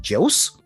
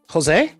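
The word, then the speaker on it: José: spelled, and I'm like, Jose? Yeah. And my friend Jose was like, no, that's my name. Jose? Like, yeah. In Spanish, you pronounce the J like this, and this is 2 syllables. Jose.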